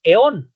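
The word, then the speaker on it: αἰών: Por último tenemos, bueno, ahí parece que dice aión, nada más que en griego la A y la I forma un diptongo que suena E, entonces nosotros en vez de decir aión, decimos eón, ¿no?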